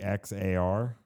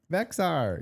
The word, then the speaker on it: Bexar: Spelled With the X in it? Bexar. There's an X in it. Bexar.